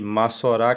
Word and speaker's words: Massorá: o parva né é em hebraico pronuncia-se massorá que tá na no